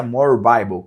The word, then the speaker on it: More Bible: More Bible, mas a pronúncia é More Bible, que a tradução é mais bíblia.